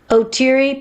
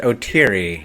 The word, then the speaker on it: Oteri: minute you just did you just pronounce it otiri not oteri nobody knows it's pronounced like that i did the stupidest